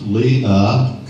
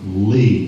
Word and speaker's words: Lea: Her middle name is spelled L-E-A and should be pronounced Leah, as in Princess Leia in Star Wars. Her dad, however, pronounced her middle name Lee, and that's how she's known today.